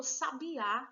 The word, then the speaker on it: sabiá: colocado na penúltima sílaba tem os aqui a mesma grafia mas não aceita o mudou de posição e virou sabiá é só por causa de um assento já não tô falando